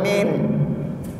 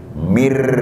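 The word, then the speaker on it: مِنْ: Ingat bang, itu nggak boleh dibaca min. Harus dibaca bagaimana? Harus dibacanya pakai langsung R, mir.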